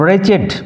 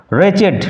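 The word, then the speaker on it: wretched: look so ফরলন এন্ড রেচেড উচ্চারণ লক্ষ্য করো রেচেড নট রেচ look so ফরলড could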